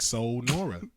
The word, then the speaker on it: Sanura: was spelled like that so just like soul Nora you know you got